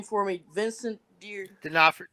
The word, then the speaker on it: D'Onofrio: Vincent D'Onofrio. D'Onofrio.